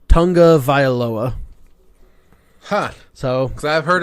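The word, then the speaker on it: Tagovailoa: picked up on that I guess two pronounces his last name tonga vial OA would ya there's no N it's t AG is the first three letters of his name but he pronounces it Tonga viola ha so because I've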